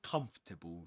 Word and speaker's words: comfortable: friends a bit more comfortable, shall we? A bit more comfortable, shall we? Yes. So, a bit more comfortable. Comfortable. Three syllables. Even wizards, British wizards pronounce it in this way.